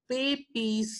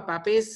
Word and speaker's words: Papez: connection that is called Papez circuit. Okay, or Pape's circuit or Papez circuit, however you want to pronounce Pape's circuit.